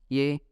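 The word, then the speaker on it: 예: So this word is pronounced as ye, which means yes in English.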